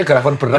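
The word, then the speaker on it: Gravenberch: Kayaknya dia tuh kurang graven berek sama Muhammad Kudus Ben loh kata koci bacanya grafon beret benar kalau enggak dapat Muhammad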